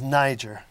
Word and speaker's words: nyjer: thistle excuse me niger the real name is niger now spelled nyjer2 to avoid any particular uh pronunciation problems with that and it started with